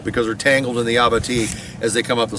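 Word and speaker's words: abatis: so they fall that way creating what's called Aba it's spelled AB a t i s it's a French word uh it's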